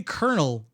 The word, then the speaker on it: colonel: it's spelled that way you say kernel in English there's no [ __